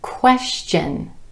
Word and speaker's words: question: You will sometimes hear the TION ending pronounced chun, chun, with the CH sound.